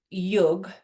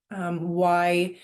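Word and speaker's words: युज्: And interestingly enough, the word yug, it's actually pronounced Y-U-J, yuj, in India.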